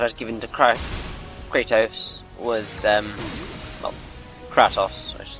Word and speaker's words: Kratos: I was underleveled, and the weapon that I was given to Kratos was, Kratos, I should say, that's better pronunciation, was a water-based weapon.